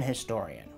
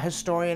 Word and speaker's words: historian: keep saying, it's an historian. It actually depends how much you pronounce the H. A historian is right, an historian is also right.